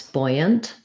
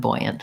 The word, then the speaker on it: buoyant: So you might remember it by thinking about like a new buoy, and the boy was buoyant.